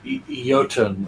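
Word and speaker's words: jötunn: he just yeah oh he's a yotun or is it jotan or yotun I always thought as pronounce yotun it's a supernatural being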